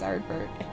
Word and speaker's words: Arbert: Yeah, he actually didn't say his name right. It's Arbert.